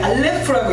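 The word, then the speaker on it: אָלֶף: 이것은 히브리어의 맨 첫 글자인데 알레프라고 읽어요.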